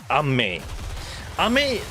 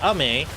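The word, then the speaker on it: 雨: raining, but in Japan if you don't say it correctly, you say Ame, it can also mean candy, it can mean sweet, it can mean snack.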